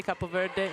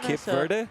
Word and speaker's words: Cape Verde: I have no idea how to pronounce it in English because I say Cap Verde in Italian. Cape Verde.